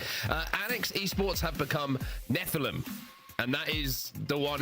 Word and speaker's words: Nephilim: YA novels and also occasionally the Bible, you've pronounced it correctly. Nephilim.